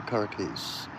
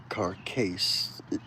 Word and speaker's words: carcase: Carcase. C A R C A S E is how it is written here. Uh where we would normally say carcass, but that's splitting hairs.